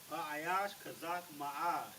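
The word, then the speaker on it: חזק: Kazak.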